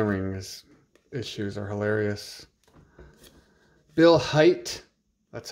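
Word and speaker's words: Hajt: cup these Santa Rings issues are hilarious Bill height that's how you pronounce it Gary Unger pretty pretty good point totals 41 goals 42 .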